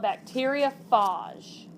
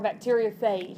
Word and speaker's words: bacteriophage: Okay, so this right here is what we call a bacteriophage or a bacteriophage. It can be pronounced either way.